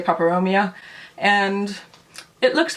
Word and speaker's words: peperomia: This is my little watermelon peperomia, or peperomia. I've heard it's pronounced both ways. I say peperomia.